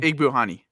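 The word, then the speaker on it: Igbinoghene: Igbuhani.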